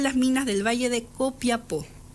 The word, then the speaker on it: Copiapó: 2 años en las minas del valle de Copiapó. O Copayapo. Copayapo en esa época. Copayapo. Por esta nuestra sentencia definitiva, así lo pronunciamos y mandamos.